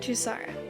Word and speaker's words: Tusara: Am I pronouncing your name wrong? Okay. I'm glad you found that story entertaining. Should I be pronouncing it Tusara? Okay. Now I know. I will try and remember that. Tusara.